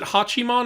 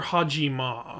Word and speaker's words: Hachiman: kids wait did you was it hachiman or hajima well it's spelled with uh is hachiman spelled with a j no okay i must have picked